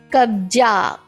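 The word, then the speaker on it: कब्जा: Kabja, this is ja, it does not have a dot.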